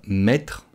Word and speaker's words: mettre: On ne va pas prononcer la dernière syllabe du verbe mettre, donc le « re », on ne va pas le prononcer.